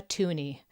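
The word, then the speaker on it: toonie: have a $2 coin which is called a tuni they wanted it to rhyme with Looney I guess and it's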